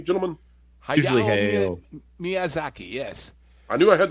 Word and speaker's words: Hayao Miyazaki: Did I pronounce that correctly, gentlemen? Hayao Miyazaki, yes.